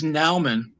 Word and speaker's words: Naumann: Is it Naumann, right? Am I saying it right? No, yeah. God, I keep Well, saying. my dad says Naumann, but I my thought mom you says said Naumann.